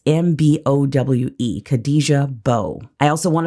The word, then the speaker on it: Mbowe: It starts with an M, but the M is silent. It's Mbowe, Khadija Mbowe.